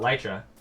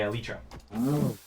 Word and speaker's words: Elytra: say alicia elytra well i've gotten a lot of recently from chat about elytra being the actual pronunciation whereas my instinct is just to say alitra don't approach seb let